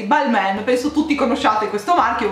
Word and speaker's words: Balmain: pronunciare quindi ci provo io l'ho sempre pronunciato ball man ok l'ho sentito così penso dagli inglesi balmain penso tutti conoscete questo